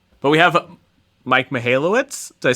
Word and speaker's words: Michalowicz: but we have Mike malowitz did I say that right I pronounce it m you're probably right I pronounce it mallwitz in uh very famous